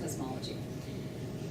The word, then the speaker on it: cosmology: So studying, I used to say it like cosmetics, but it's studying the universe, cosmology.